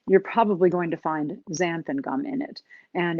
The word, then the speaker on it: xanthan: questions about it but it's called xanthan gum which is spelled x-a-n-t-h-a-n xanthan so it's um a